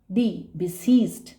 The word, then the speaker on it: besieged: Right spelling जो होगी वो होगी सीज, SIE, सीज, IE, लंबा सा प्रोनाउंसिएशन आ रहा है इसका, BESIEGED, बिसीज्ड।